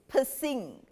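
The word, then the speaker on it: Piscine: Because if you pronounce his name, it's pissing.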